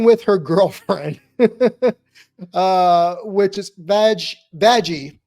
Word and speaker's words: Vaggie: Starting with her girlfriend, which is Vaggie, and I am pronouncing that right. Vaggie, her girlfriend, who is